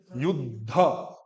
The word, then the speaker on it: युद्ध: लिपि का पार्ट है, द पूरा लिखा है, द लिखा पूरा है लेकिन प्रोनाउंसिएशन में उसमें कोई स्वर नहीं है, तो युद्ध और फिर ध पूरा बोल दो युद्ध, और ध महाप्राण है तो बल दो, युद्ध ऐसा नहीं युद्ध, संस्कृत में थोड़ा सा